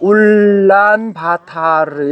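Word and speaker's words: Улаанбаатар: 모음을 두 개 쓰면 장모음이에요. 그니까 올란 이렇게 길게 한다고 하면 그다음에 바도 길죠. aa 두 개가 있으니까 바에다가 t니까 t a p가 r이에요. 그러니까 울란바타르 이렇게 되는 거지.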